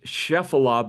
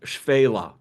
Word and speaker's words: Shephelah: And it sounds like it's Shephelah, but I did look up the pronunciation of this, and it's pronounced Shphelah.